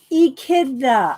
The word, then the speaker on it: echidna: I saying it right oh it's an e kitten echidna is how you say it okay let me write down the phonetics ii kid nah okay echidna all right